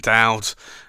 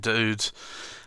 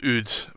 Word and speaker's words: Oud: I still call it Dowd, and I know that's not the right pronunciation, but I still find it very difficult to pronounce it Dude, or Oud, but it's a stunning pen.